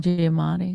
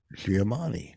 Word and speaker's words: Giamatti: What's the name of the Paul Giamatti. Paul Giamatti. I heard him on Stern. Oh, how are you saying it? Paul Giamatti. Giamatti.